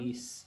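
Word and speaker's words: Gliese: Ya, dice, entre dicho descubrimiento destaca el sistema GLISE, o GLIS, ¿cómo se pronuncia? Liz, sí.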